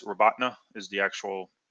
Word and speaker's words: Robotyne: Well, it looks like Robotyne. It's Robatna is the actual pronunciation.